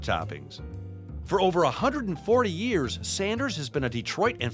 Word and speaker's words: Sanders: Is it Sanders or Saunders? It's Sanders. There is no U in it.